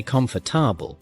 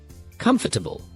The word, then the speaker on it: comfortable: It has only three parts, not four. Try saying it slowly with me. Comb bl. Now say it faster. Comfortable.